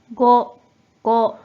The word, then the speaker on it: 護: 자, 이 한자는 뜻으로는 발음이 없고 음으로만 ご、ご、 라고 발음해줘요.